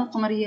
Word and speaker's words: القمر: أن اللام لا تلفظ، بينما عند إدخال اللام على كلمة قمر تصبح الكلمة القمر، أي أن اللام تلفظ وتكون حركتها السكون.